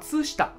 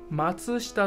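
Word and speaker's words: 松下: 松下ね、松下牌子那个也是松下。松下と読みます。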